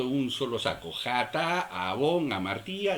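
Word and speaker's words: עָוֹן: El segundo concepto de falta es la falta que conlleva efectivamente la pena de muerte, que se pronuncia abón.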